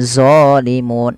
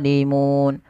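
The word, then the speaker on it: ظَالِمُونَ: Hati-hati jangan dibaca dengan doimun. Ini sering terjadi mengganti doo. Enggak ada sebenarnya. Harusnya d bagaimana lidahnya? Lidahnya untuk menyempurnakan dia mirip dengan dzal tapi pangkal lidahnya terangkat dan dia punya sifat ee namanya idbaq. Melekat ke langit-langit lidah kita. Do. Maka dzimun dzimun ya.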